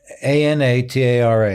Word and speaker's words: Anatara: Ahvie: Yeah, A-N-A-T-A-R-A, Anatara, it's a Sanskrit word that means core but typically when people misspell it, they'll get Anantara, which is a hotel group in Asia.